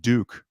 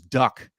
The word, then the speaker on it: Duk: myself uh you know they kept calling him Duke but obviously the phonetic pronunciation is Duck and that immediately told